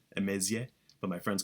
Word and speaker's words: Emezie: My name's uh Emaysia. That's how That's how it's pronounced. Emaysia.